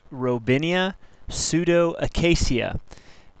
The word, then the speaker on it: Robinia pseudoacacia: black locust the species name is pronounced robinia pseudo Acasia and it is a member of the fabas